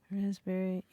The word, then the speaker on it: raspberry: spelling Neil k-n-e-e-l Neil raspberry yes sir silent letters yes silent letters raspberry is the silent s well P Simon P right answer